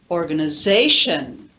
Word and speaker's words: organization: In English we say organization, organization. The zay, the stressed syllable, is very loud, long, and high.